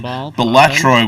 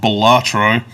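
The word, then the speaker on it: Balatro: and you enjoyed playing batro which I've been told is the way that I need to pronounce it now not batro uh and you enjoyed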